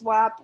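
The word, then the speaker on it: WHAP: And some people asked, what is WAP? WAP is it's spelled W-H-A-P, and it's just what people call World History AP.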